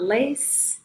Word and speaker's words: les: I stopped at a point and wanted the class to notice that with the pronunciation of les, which is spelled L-E-S, the S is silent.